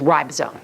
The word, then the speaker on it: ribosome: you can that's how you say it is ribosome I just want you to know that but